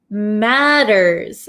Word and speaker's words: matters: Okay, to make matters matters worse. So, this T sound here in American English is going to sound like a soft English D sound.